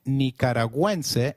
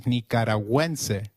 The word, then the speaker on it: Nicaragüense: Gu, when followed by another vowel like in gue, is pronounced like gue in Gwen. So, let's try saying Nicaragüense again. It is Nicaragüense.